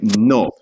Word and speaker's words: no: But what you want to do is push that tongue forward just a little bit more than we do in English. Instead of no, you want to say no.